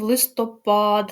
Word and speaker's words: листопад: продовжуємо наш словничок наголосів листопад наголос на останній склад літопис на другий і